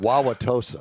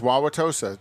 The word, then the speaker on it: Wauwatosa: Wauwatosa. Wauwatosa. Like Baba Wawa. Baba Wawa.